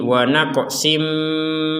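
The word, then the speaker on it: ونقص: Kemudian ada tanwin bertemu dengan huruf mim, maka kita masukkan tanwinnya kepada huruf mim sehingga yang awalnya tulisannya wa naqsin, sin ini tanwin, kita bacanya sin gitu ya.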